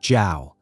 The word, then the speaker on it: Zhao: Zhao is pronounced like Zhao.